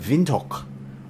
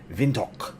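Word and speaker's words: Windhoek: up into Namibia uh the capital been uh vinto I think is how you pronounce that vinto OS airport foxtrot Yankee whiskey Echo is our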